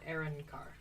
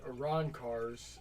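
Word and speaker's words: Arrancar: a choice would you pick soul reaper or aaron carr i don't know what aaron carr is yeah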